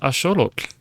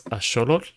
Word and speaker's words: axolotl: And if you're wondering about that pronunciation, it's axolotl, not axolotl. Axolotl, well, it's fun to say. It's not correct. It comes from, the word is actually a Nahuatl word, which is the native language in Mexico.